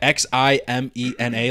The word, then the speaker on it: Ximena: No, because sometimes with an X, it's with a they pronounce it with a Z or a H, right, Mario? Like, for example, like X I M E N A, like Ximena.